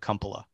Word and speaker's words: Kumpula: My family pronounces it Kumpula.